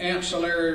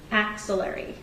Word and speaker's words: axillary: And You describe that as the ancillary region? Axillary. AX. Axillary. You spell it for the court reporter?